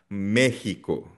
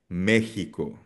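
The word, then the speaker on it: México: Ang x pwede rin siyang maging hot or H sound tulad ng Mexico. Mexico.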